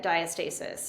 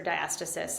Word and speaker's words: diastasis: So heavy kids inside my belly, but I did get diastasis or diastasis. I think it's pronounced both ways, but that is that split of the linea alba, the connective tissue that joins the rectus.